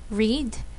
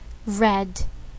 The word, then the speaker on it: read: past simple tense, but for the verb read, we have a different pronunciation, even though the spelling is the same. So again, it should be read, read.